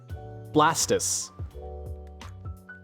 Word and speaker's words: Blastoise: how do you say how do you say the animal is based off of you'd say tortoise right toris uh his name would technically be pronounced blastis blastis not Blastoise not turtoise but tortoise